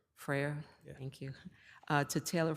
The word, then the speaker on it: Frere: Frere. Frere, yeah.